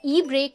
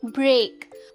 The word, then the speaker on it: brake: BRAKE ब्रेक में हम थोड़ा सा पुश डालते हैं, स्ट्रेस डालते हैं इस वर्ड पे, ब्रेक।